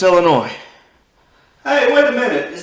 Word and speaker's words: Illinois: okay okay all right illinois it's illinois okay it's illinois i know it's i know it's got an s at the end but it's just illinois hey wait a minute